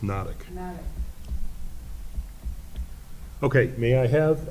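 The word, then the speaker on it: Hnatuk: Pronounced Nodic.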